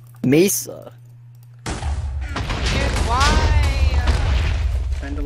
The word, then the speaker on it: mesa: nary and i was like oh it's a misa a what what you know the little biome with red sand you mean a mesa it's like oh that's how it's pronounced mesa here's why kind of like what georgia thinks